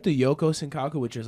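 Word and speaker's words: Yoko Sankaku: Yoku Sunkachu? Yoko. Yoko Senkaku.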